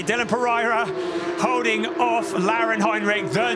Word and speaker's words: Dylan Pereira: Dylan Pereira, yes, that is how you pronounce it, the request of his family. Dylan Pereira holding off Lauren Heinrich, the new champion in 2022 of Porsche Carrera Cup Germany.